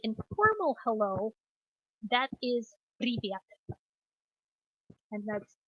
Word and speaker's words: привет: Now, if you want to say informal hello, that is привет. And that's привет.